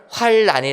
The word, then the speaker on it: 환란: 어지 더 올 아닙니다 그래서 우리가 흔히 의 환란이 라고 얘기하는 것은 환 을 안 률 로 끝난 란 이것은 발음을 환란이 라고 하는게 맞습니다 그런데 성경에 기록된 환난이